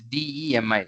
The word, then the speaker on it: demigods: It is not dummy, Mataji. It's DEMI. It's not DUMMY.